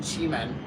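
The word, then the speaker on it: Qimen: Chime. uh chi like in chiong men like um it's a different chi but like you can spell it the same in English q i ne that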